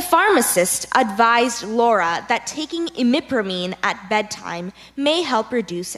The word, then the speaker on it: imipramine: The pharmacist advised Laura that taking imipramine at bedtime may help reduce any side effects.